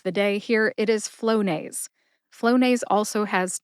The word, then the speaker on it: Flonase: Put both syllables together and you get Flonase. Emphasize flow. See if you can hear the emphasis when I say it again. Flonase.